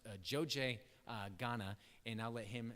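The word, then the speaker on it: Dzodze: And then after that, we'll have Mark come up and talk about their work in, it's pronounced Joje, Ghana, and I'll let him share some pictures.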